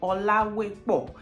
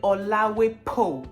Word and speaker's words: Olawepo: It's just the P-O on the end. Instead of saying po, Olawepo, they say Olawepo.